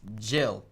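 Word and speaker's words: Gilles: exact name name it's jill so g-i-l-e-s uh and actually it's pronounced jill like the french part the french do it pronounce it um yeah like jill my name is jill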